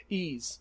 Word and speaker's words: Ys: Ease, it's pronounced.